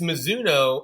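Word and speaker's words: Mizuno: all the big ones how do I pronounce the one I couldn't pronounce it's so so it's it's Mazuno and and your your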